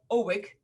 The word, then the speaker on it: OWiC: He's also the co-founder of OWiC Technologies. Am I pronouncing it correctly?